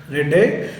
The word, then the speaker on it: Redux: series, published in 1960, Rabbit Redux, 1971, if you prefer the French pronunciation, Rabbit Rede.